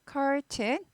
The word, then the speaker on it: curtain: curtain 창문 앞에 치는 커튼 아니고 R이 있어서 curtain이에요. 네. 그래서 잘 안 되면 그냥 구부리다가 curtain. 네. 그리고 고급 발음 좀 하고 싶다 하면 curtain. 스타카토 찍고 아니에요. curtain. button. 이거는 R이 없죠? button. curtain. R이 있으니까 구부리죠? curtain. 뭐 하다가 네.